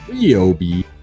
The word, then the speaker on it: Ryobi: said R Obi and I know it's technically pronounced RI but I still I say it Ryobi and I like the